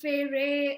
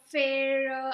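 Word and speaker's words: Feyre: I pronounced Farah as Farah. Some pronounced Fere or Fair.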